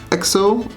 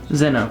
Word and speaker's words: Zeno: It has Exo, is that how you say it? Exo? Zeno. Zeno, perfect.